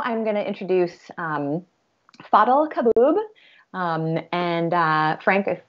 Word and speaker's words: Fadhel Kaboub: let me just make sure if i um pronounced your name correctly yes follow kaboob thank you thanks for having me fantastic great